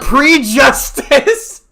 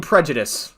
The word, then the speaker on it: prejudice: Meanwhile, prejustice. You mean prejudice lady? Yeah, but we're the uneducated ones. You can't even pronounce prejudice correctly.